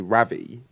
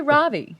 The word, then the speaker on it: Ravi: never saying it right say Ravi Ravi say RAV don't like it it's Ravi it's not RAV I would say Ravi